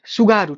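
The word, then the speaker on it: Tsugaru: सुगारू T silent रहेगा। सुगारू। ठीक है ना? जैसे ये सो पढ़ते हैं ना तो ये सुगारू हो जाएगा। सुगारू स्टेट हो जाएगा।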